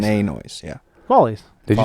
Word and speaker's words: Follies: Pronounce it Follies. We say it Follies. Follies. Spell it. Yeah, Follies. Spell it But you say Follies. Follies. It's not a capital O sound. It's Follies. an ah sound. Follies. It's Follies. Follies. Oh, Follies. It's wide like an open A.